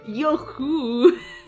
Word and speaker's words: Yo-hooo: Actually, it's pronounced Yo-hooo.